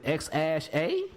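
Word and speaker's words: X Æ A-12: this Thursday podcast that X is spoken like the let like the letter while that the AE where the it is that simply it's pronounced like ash so the ex ash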